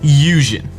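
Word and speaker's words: 龍神: But the problem is Shinto, where shrine maidens come from already have a deep sea god known as Ryujin. It's pronounced Yujin, the dragon god.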